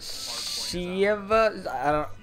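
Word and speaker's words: Shieva: There are a couple that I'll get more into, like the Shiva. It's spelled S-H-I-E-V-A, Shiva.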